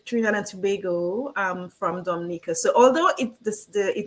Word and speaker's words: Dominica: how she's pronouncing is we both pronounce it Dominica so it's like at the end and so that we don't get mixed up with Dominican Republic right yes so that's one